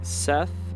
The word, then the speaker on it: Set: and yeah I know set is spelled like Seth but pronounced like set it's a little confusing